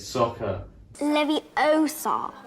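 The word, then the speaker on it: Sokka: the first episode really yeah it's aang it's soccer levi oh sorry not livio but in the film they never get it right the whole time it's um like sucker or sakura or some like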